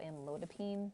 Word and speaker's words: amlodipine: the drug name so amlodipine although you don't pronounce them as Pine um so they're pronounced